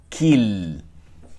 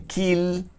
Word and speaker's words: kill: La palabra kill en inglés la podríamos pronunciar en español como kill. Y suenan muy diferentes. Escuchen, kill, español, kill, inglés.